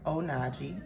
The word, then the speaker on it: Onajee: It is pronounced onagi.